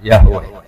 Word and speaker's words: Yahweh: Ya, nak tengejaan Latin Y besar, A H besar, W E H besar, Yahweh.